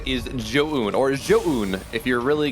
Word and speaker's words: Zoun: fast, if something big is happening, it's then Joan or Zoun or Zoun, whatever we do when we actually just kind of screw the name up. But yes, traditionally, or it actually should be pronounced Zoun.